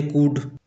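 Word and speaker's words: could: L plus D यानी कि L silent जैसे कुड कुड का स्पेलिंग इस प्रकार से होता है लेकिन पढ़ा इस प्रकार से जाता है।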